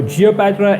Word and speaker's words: Geopatra: at it yet it's a wordplay to rhyme with cleopatra you know cleo ngo